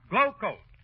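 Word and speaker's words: Glo-Coat: of this rodeo mcgee r-o-d-e-o is pronounced rodeo and glo hyphen c-o-a-t is pronounced glow coat oh mr wilcox hi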